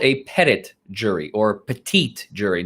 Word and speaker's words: petit: that is called a pettit jury or petite jury nobody really pronounces it petite but it's spelled uh like petite only without the e p e t i